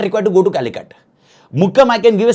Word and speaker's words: Calicut: How we pronounce it? It is basically Calicut.